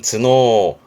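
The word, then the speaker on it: 頭脳: 발음은 즈노. 발음 어려워요. 챙기세요. 발음은 즈노. 두뇌의 뇌자. 두뇌는 즈노입니다. 잊지 마시고.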